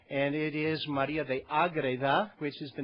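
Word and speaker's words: Ágreda: And it is María de Agreda, which is the name of the town in north-central Spain that she was born in and that she really never left.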